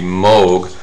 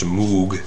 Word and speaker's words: Moog: That's M-O-O-G, Moog, commonly mispronounced Moog.